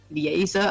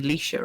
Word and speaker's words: Leisha: They're like, because there's Liza and then there's me, and he's like, Liza, and I'm like, you mean Leisha, right?